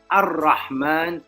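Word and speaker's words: الرحمن: Okay, the ra comes from the alif lam ra, but the lam is silent, and therefore you say ar-Rahman, because that is a sun letter or a moon letter.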